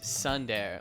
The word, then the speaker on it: tsundere: It's Sundare, like Tuesday, but Sunday. You pronounce the T.